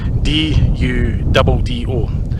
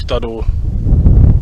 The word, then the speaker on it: Duddo: another wee very small village called Duddo, D-U-D-D-O. Now Google translated it to make sure I got the pronunciation right so it didn't sound ridiculous, something like Duddo.